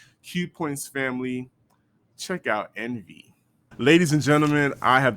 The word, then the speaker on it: ENV: about them I was like is the name pronounced EnV or is it pronounced Envy so I just got school tonight that is in fact Envy but she said there was a story behind